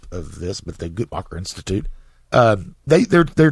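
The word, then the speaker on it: Guttmacher: Tennessee yeah um uh it's the gutmacher I believe is the the correct pronunciation of of this but the gutmacher Institute um they they're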